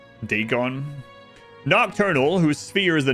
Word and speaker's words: Dagon: That one's pronounced um Deegon.